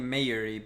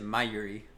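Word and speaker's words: Mayuri: and call me Yuri's I keep saying mairay but it's but the keeper but they pronounce it my Yuri that's my phonetic thinking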